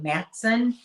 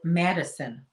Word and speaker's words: Matteson: There's also a town called, it's spelled Matteson. Some people say Matson, and I've heard it Madison.